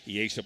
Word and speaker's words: Iesha: And for Dodge City, they're going to go with Becca Unruh, Camry Johnson, Victoria Gonzalez, Amaya Perez, and Iesha, had to get that pronunciation correct, Iesha Potts.